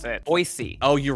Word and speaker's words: Boise: The correct way to pronounce it, Boise.